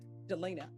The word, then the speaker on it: Delina: how do you pronounce your first name Delina Delina I've been mispronouncing it forever uh state of Texas versus